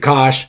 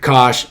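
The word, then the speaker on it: Koch: So go read the 8020 principle by Richard Kosh and it's spelled Ko C Richard Kosh.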